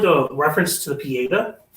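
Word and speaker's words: Pietà: a reference to the pieda pieta pieta yeah I think that's how you pronounce the pieta which is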